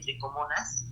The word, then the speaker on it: Trichomonas: Las tricomonas, aquí está, hay un error de dedo, se escribe trichomonas, se lee tricomonas, que están en cavidades.